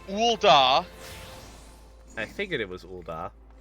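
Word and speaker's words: Ul'dah: just This one right here, and this is Ulda's Market Street. Yes, that's how you pronounce it.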